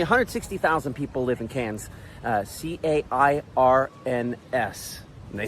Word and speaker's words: Cairns: Only 160,000 people live in Cairns, C-A-I-R-N-S. And they say Cairns. Just gotta see if I can pronounce it the correct way.